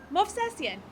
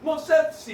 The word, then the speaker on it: Movsesian: How do you say it? Movsesian. You say it like you said Smith. Yeah. Movsesian.